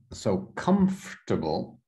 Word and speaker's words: comfortable: So let's do, so comfortable. Comfortable. So it's like the or is silent.